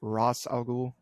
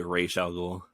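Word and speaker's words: Ra's al Ghul: me poison ivy versus now everyone's pronounced a different Ross or race al Ghul or however you want to pronounce it um I've always said Ross algul oh really I I would say racial yeah I don't know it there's no consensus because I've seen many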